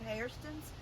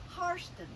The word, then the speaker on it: Hairston: their name was pronounced harston but the slaves later when they were freed began to pronounce it Hairston which is the way it's spelled h-a-i-r like your literal hair so that is one